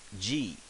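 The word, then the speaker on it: じ: Since this is she, this right here, if we voice it, right there, so that becomes G. So she, when we voice it, is G as in Jeep.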